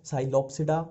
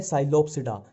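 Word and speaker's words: Psilopsida: Pteridophyta में इसमें P silent ही चलता है, जहां भी पी आ गया वहां साइलेंट ही चलेगा। अब देखो, ये है साइलोप्सिडा, साइलो और ये साइलो, ठीक है।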